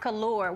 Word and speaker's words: Colour: It's pronounced Color.